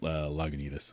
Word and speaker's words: Lagunitas: pronounced? It's Lagunitas.